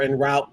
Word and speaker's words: En Route: get the new album in root or in route depending on how you pronounce it uh it's fantastic go